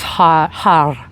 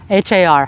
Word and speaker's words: har: It's har, H-A-R, har. I don't know if you can't roll your R, that's okay, but the idea, ideally, is to roll your R, har, har, har, har, har, har, har. And when you're rolling it, ideally your tongue touches the roof of your mouth just a little bit.